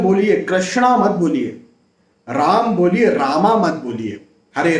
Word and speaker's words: राम: हो कर के और कोई बोलता है नहीं कृष्ण होगा कृष्ण राम होगा रामा नहीं होगा